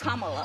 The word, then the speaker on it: Kamala: Earlier you said Kamala. The way she pronounces her name is Kamala.